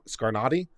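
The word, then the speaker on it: Scarnati: concurrent resolution if that's it's pronounced scar scar naughty okay scar naughty fair enough scar naughty fair enough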